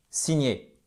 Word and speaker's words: sign: here voyez en fait c'est pas sign sign signé mais comme ça ressemble au français c'est peut-être plus intuitif pour nous ok donc sign le le G est silent silencieux je vais y